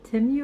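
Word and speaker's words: Temu: bunch of stuff from Tim timu I think that's how you pronounce it it's t e m u and it's an app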